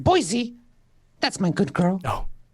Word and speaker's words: Boise: It's pronounced Boise.